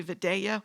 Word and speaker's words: Vidalia: So, and I like using that famous onion from Georgia, which people from Georgia pronounce Vidalia. You may think it's Vidalia, but they say Vidalia, whatever.